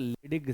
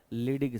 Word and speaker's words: Leydig: बीच वाला रीजन, इसे बोलते हैं इंटरस्टिशियल, लिखो इंटरस्टिशियल सेल, स्पेलिंग ये रीजन, ये इंटरस्टिशियल सेल। इसी का दूसरा नाम भी है, इसे बोलते हैं लिडिग सेल। क्या बोलते हैं? लिडिग सेल, LEYDIG, लिडिग सेल।